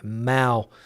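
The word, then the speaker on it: Mahou: And if you're not familiar with the Mao beer brand, a lot of people have trouble pronouncing that name. Mao is the way it's pronounced.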